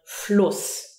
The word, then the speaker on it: Fluss: If you have a double S, for example, a U and a double S, it would be Us, for example, in the word Fluss.